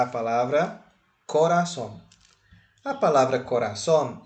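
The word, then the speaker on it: corazón: grave ou será aguda Qual é a sílaba tônica de Cora é ra ou Son som isso mesmo caiu em cima do A então coraçon é uma palavra aguda entendeu Vamos fazer outra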